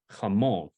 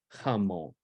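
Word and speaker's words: jamón: so instead of saying if there were no accent you would tend to pronounce it Hummel with it emphasis was on the front but with the accent over the O it tells you where to emphasize so can everybody repeat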